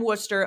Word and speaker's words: Worcester: um from M and I'm gonna pronounce this Worcester because I lived in Massachusetts but I'm not sure if that's actually how it's pronounced M Worster 0215 uh make a